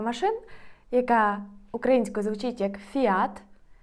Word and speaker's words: Fiat: яка українською звучить як Фіат а іспанською буде Fiat Fiat наголос змінюється на і далі трішки рандомних брендів